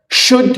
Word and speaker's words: should: should you اللي هنا silent لا تنطق، اسمها should you هل يجب أن.